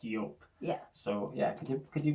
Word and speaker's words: Joop: of people pronounce as everyone says everyone says Joop even though it is actually pronounced York yeah so yeah could you get the ball